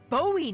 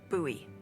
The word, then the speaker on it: Bowie: no warning he pulls out this huge Rusty Bowie knife it's actually pronounced buoy what no it's like the last name like